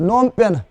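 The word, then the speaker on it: Phnom Penh: कौन जी साइलेंट है ठीक है ना तो नोम पेन नोम पेन इसमें पी भी साइलेंट है एच भी साइलेंट है जब साइलेंट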